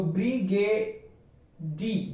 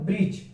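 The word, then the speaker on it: bridge: यहाँ पर देखें तो इसको हम अगर पढ़ते हैं डी को मिलाकर तो ब्रिगेडी, ब्रिगेडी हो जाता है। यानी कि अगर इसको डी को अगर साइलेंट कर दिया जाए तो ब्रिज।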